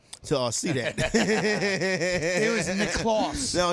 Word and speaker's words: Claus: It was Nick Claus. No, Nick Claus, my bad. Nick Claus. It's like Santa Claus. It was like Santa Claus, but Nick Claus.